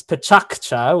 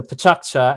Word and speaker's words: PechaKucha: how you pronounce it you pronounce it with three syllables with the middle one being pretty tough pretty hard i should say so uh it's pachaccha with the k bouncing